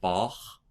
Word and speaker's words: Bach: And something later on, let's say you had, Bach's name, your tongue is down, and so you do the CH with the back of your tongue. Bach, ich. And it moves forward.